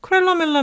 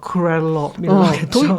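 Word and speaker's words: Kröller-Müller: 어느 쪽 발음을 차용을 하느냐에 따라 다른 것 같은데 그래서 크렐러 밀러 할 때 그 위에 오물라우트 막 이렇게 붙고 막 크렐러 밀러겠죠. 독일어였잖아. 네. 약간 그래서 발음 제대로 해보세요. 크렐러 밀러 이렇게 밀러.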